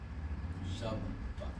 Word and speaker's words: Shabbat: So then what we do is we divide the word into two closed syllables, shab and bat. Shabbat.